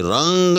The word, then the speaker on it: رنگ: نہیں ہے، جی ہاں۔ یہ رنگ، اس میں تین حرف جو ہیں، رے، نون اور گاف، تینوں متلفظ ہیں، جی ہاں، لہذا یہ فا کے وزن پر ہوگا۔ اسی طرح سے یاد